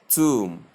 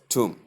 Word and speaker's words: tomb: We say it's pronounced as tomb, to sound, long U sound, and the M sound, giving us tomb.